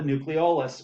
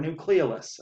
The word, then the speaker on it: nucleolus: structure within the nucleus called the nucleolus or nucleolus i've heard it pronounced both ways doesn't matter to me which how you pronounce it but this helps make